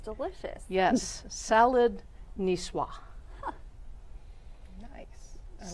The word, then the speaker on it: niçoise: school, not French, but I believe it's pronounced salad niçoise.